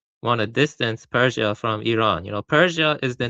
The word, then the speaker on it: Iran: Iran, it's pronounced Iran.